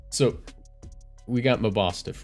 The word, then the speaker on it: Mabosstiff: All right, so verdict's out on how to actually pronounce this Pokemon's name, but I like MABOSSTIFF, so. MABOSSTIFF. Well, it's like mob, boss, but like mastiff.